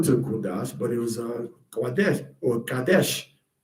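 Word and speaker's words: קדש: Um the female that's entering into pro temple prostitution is called a a ques a kadesha and the man is called kadesh not kadosh and that's why it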